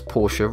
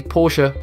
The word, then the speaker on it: Porsche: Porsche. No fun facts here, other than that most people cannot pronounce Porsche right.